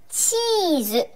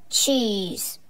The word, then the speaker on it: cheese: なんだけど口はうの形をしたままチチュチュ見えるかなこれをチーズていう風に横に口を広げちゃうとちょっと英語の発音とは変わってきちゃうのでここポイントね注意して発音の練習してみてください口はウの形ですチーズはいじゃあトースターで